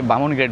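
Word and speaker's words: Bumrungrad: এখন শেষ পর্যন্ত এই বুম উরুং গ্রেড আসলে উচ্চারণ করা খুবই কঠিন এখানে লোকালে সবাই বামন গ্রেড বলে হসপিটাল ইন্টারন্যাশনাল হসপিটাল আমার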